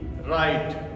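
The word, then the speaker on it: write: सभी लोग हम जानते हैं किसी शब्द के शुरुआत में किसी वर्ड के शुरू में डब्लू और डब्लू के बाद में आर ये ऐसा आ जाए तो इसमें डब्लू हमारा है वो साइलेंट रहता है।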